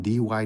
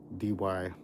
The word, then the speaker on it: Dee Why: Linda lives in Dee Why, New South Wales. So, there's a suburb of Sydney called Dee Why.